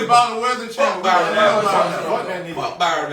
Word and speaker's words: Byron Allen: Y'all know who Brian Allen is? Yeah, I know Brian Allen. Never- Hold up, Byron Allen.